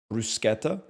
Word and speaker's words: bruschetta: in the mid 2000s I know that it's pronounced brusketta but I'm just going to call it bruschetta because I'm already sound